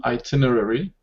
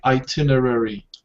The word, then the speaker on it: itinerary: sistra itinerary I correct itinerary it's a tricky word you know a lot of people make a mistake pronouncing this so it's just actually itinerary like it's written but because there are